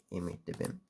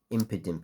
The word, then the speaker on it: Impidimp: Imidibim. Yep, I butchered that. Impidimp, I think it was called.